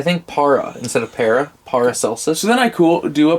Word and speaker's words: Paracelsus: Yeah. Paracelsus. Because it's like Celsius. Paracelsus? Paracelsus. Paracelsus? It's an S. Celsius. Paracelsus. Okay, yeah. I think para instead of para. Paracelsus.